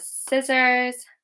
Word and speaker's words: scissors: So we've got scissors, muscle, scene. Okay, with these, the C is silent.